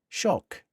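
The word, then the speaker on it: Tsioque: Shock, it's called, but it's spelled T S I O Q U E.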